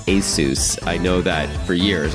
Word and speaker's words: Asus: forward slash radio and yes the company is pronounced ASIS I know that for years I called it Asus and many other people do it as well